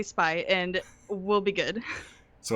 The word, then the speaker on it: SpyV: i'm will and i'm spy hello and uh that v is silent right yeah it is silent